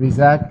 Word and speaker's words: Rezak: If I can ask Dr. Rezak, am I pronouncing it correctly? Yes, perfect. Rezak, to come up here and have a seat.